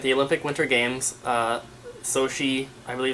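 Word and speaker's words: Sochi: and Sonic at the Olympic Winter Games uh sohi I believe it's how you pronounce it 2004 this is the big box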